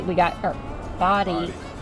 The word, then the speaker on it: Bodie: we got something out of stopping at Bodie. We got our Bodie. It's spelled Bodie.